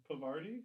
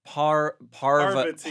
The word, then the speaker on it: Parvati: Pavarti? No. Oh, that's her name? Her name is Parvati. Parvati, but everyone says Pavati because She's it's like England over Dating there.